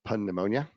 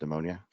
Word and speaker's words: pneumonia: the nurse contracts occupational pneumonia. Most people mispronounce it as pneumonia, but there's a P there, obviously. It's right there in front of your face, right?